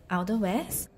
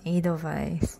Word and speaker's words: Edelweiss: It's Edelweiss. No, it's not. It's pronounced Edelweiss, which is a kind of herb or flower.